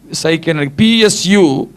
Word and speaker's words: psuche: Which is in Greek in த new testament is, I think இது Sycon, PSUCHE.